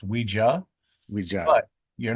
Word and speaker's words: Ouija: the the one that was first mass-produced is pronounced Ouija? Ouija. But you're not wrong for saying ouiji because when you ask someone if they use the board, you would ask them if they ouiji.